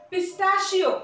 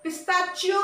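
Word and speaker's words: pistachio: পিস্তাশিও, পিস্তা বাদাম, পিস্তাশিও, পিস্তাশিও, শিও সি এইচ যদিও পিস্তাচিও নহয়, পিস্তাচিও নহয় বা পিস্তাচিও নহয়, হয় না, পিস্তাশিও।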